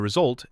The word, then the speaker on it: result: While we're here, stress the action and the result and say connectors softly. Result gets stress on the second part.